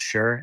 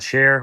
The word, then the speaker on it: Sherr: you could just google my name's sure SH er R where chair or shear or whatever else pronunciation you want to use for my last name I've I've seen it all it's got sure there's another one but